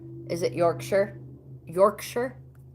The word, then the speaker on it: Yorkshire: You don't say it's not pronounced Yorkshire. Is it Yorkshire? Yorkshire? It's the Yankee accent. Yorkshire. All right, so you don't pronounce it Shire like in The Hobbit, which is an awesome book to read.